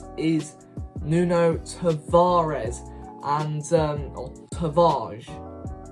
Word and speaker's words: Tavares: nuno tavares and um tavage i think it's pronounced tavage if you're portuguese but obviously a lot of arsenal fans pronounce his name as tavares for me i think